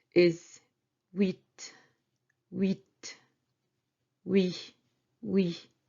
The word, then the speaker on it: huit: 8 is huit. Huit. Oui. Oui. As when you say yes in French, you say oui. So it's the same sound, but then you add T.